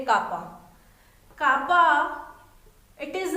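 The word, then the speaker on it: kappa: इट is also called conductivity and denoted by के, कापा, जिसको हम प्रोनाउंस करेंगे कापा।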